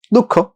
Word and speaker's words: দুঃখ: এই যে শব্দটা আছে উচ্চারণটা দুঃখ, তো এই দুঃখ উচ্চারণ তো লিখতে গেলে আমার লিখতে হচ্ছে এইভাবে, ক হসন্ত খ ওকার।